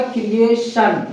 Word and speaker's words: creation: क दोनों होता है, तो यहाँ पे इसका प्रोनाउंसिएशन क्रिएट, TION से बोला मैंने क्या, सन, तो क्या हो जाएगा, क्रिएशन, क्या होगा, क्रिएशन।